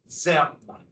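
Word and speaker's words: Diệm: This is pronounced ZM.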